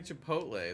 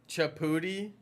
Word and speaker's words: Chipotle: pronounce it like Grotto people say chai pot Lee no they don't stop chaputi no they don't chaputi chaputi stop that's worse than Chipotle Chipotle no everyone's kidding